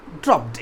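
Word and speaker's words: dropped: इसलिए क्या होगा, यू ड्रॉप्ड इट, यू ड्रॉप। अब याद रहे कि ड्रॉप्ड जो है ई डी, ड्रॉप्ड इट, ड का प्रोनाउंसिएशन नहीं होता, वहाँ ट का प्रोनाउंसिएशन होता है, ठीक है।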